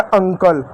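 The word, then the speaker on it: uncle: इ क्या होगा? इ साइलेंट होता है। किसी भी शब्द के अंत में इ आता तो साइलेंट होता। तो ये हो गया अंकल।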